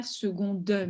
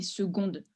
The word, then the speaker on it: seconde: Ah, le E à la fin, en général, on ne prononce pas en français. On ne dirait pas seconde, mais seconde. Seconde. Ce serait comme 2 syllabes.